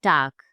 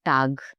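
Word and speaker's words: Tag: अ word common mistakes don't forget at द एंड ऑफ़ the word ji sounds like के like टाक टी ए जी but this ji sounds like के एट द एंड टाक नॉट टग इट्स टाक हा like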